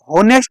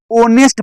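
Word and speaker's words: honest: क्या होता है कि एच साइलेंट होता, होनेस्ट नहीं पढ़ा जाता इस वर्ड को, ओनेस्ट पढ़ा जाता, ओनेस्ट, इसलिए राम इज एन ओनेस्ट बॉय, इसीलिए यहाँ ए एन का प्रयोग हुआ।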